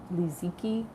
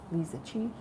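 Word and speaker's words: Liziqi: It's spelled L I Z I Q UI. Liziki. Leisuchi.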